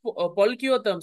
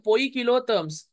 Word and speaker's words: poikilotherms: Okay, we used to pronounce it polchiotherms. It's not polchiotherm, poikilotherms.